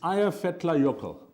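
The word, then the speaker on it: Eyjafjallajökull: try and impress you it's aya fetla yoko aya fetlayoko and it was an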